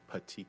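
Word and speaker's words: petechiae: can't that's fine I can't all right but pronounce it slowly and loudly for everybody patii okay and what is patii uh it's blood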